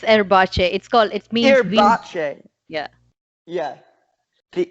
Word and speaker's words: Erbacce: Am I pronouncing this right? The Erbacce. It's Erbacce.